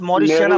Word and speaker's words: mauritiana: Ziziphus meridiana rootstocks जिजपस result Morris, जिजपस मॉरिशियाना, pronounce सही करो। meridiana मॉरिशियाना, mauritiana हाँ Ziziphus मॉरिशियाना। mauritiana rootstocks results vigorous vigorous vigorous plants growth and high yield with section CV sign CV Umran.